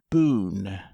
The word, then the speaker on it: Bohun: Boone. Mr. Boone. He is a stranger to Mrs. Clarendon, so he may give you a card. If so, the name is spelt Bohun.